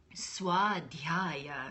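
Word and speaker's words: स्वाध्याय: us but for today work on dropping your jaw pushing that little breath spurt out on the dl and then dropping that jog in sault ste swad gaya say again swad gaya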